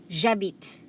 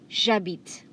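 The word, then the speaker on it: j'habite: be one as one jabit jabit okay next we have ah beat again h is silent h is silent okay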